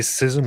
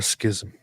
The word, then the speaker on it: schism: David, do you say schism or schism? I've said both, depending on whoever pronounced it most recently in my brain, but I prefer schism.